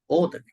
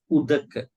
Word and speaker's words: udaka: They put it Odak, but the way that we pronounce is Udaka.